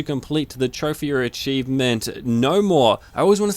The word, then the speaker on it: Gnomore: the trophy or achievement no more I always want to say G no more but it's the g is silent uh the details say